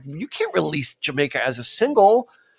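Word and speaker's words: D'yer Mak'er: on the album u a song like jamaer or or dire maker if you're reading it out phonetically but um to to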